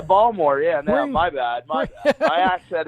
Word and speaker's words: Baltimore: to it being pronounced if you're from baltimore you got to pronounce it baltimore oh yeah ball more yeah my bad my